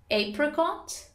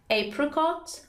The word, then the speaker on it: apricot: In American English, you can pronounce it as either apricot, apricot, or apricot.